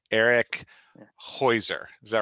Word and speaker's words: Heuser: Heuser, is that right?